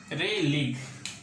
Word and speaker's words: Rayleigh: लेकिन कुछ एक फिनोमेना है, जैसे कि एक फिनोमेना है जिसको कि हम लोग कहते हैं यहाँ पे रे लीग। इसके स्पेलिंग देख लेते हैं, रे लीग, RAYLEIGH, रे लीग स्कैटरिंग, ठीक है।